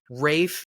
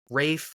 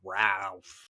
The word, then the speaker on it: Ralph: the Old Norse and so Rafe or Rafe is really how it's pronounced I think we it up by being like Ralph Ralph yes exactly well